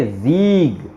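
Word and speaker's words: Sieg: इसको पढ़ेंगे जीग, ऐसे। अब ये एस का साउंड जे निकल रहा है, वाई वो अपन नेक्स्ट पेज पे देखेंगे।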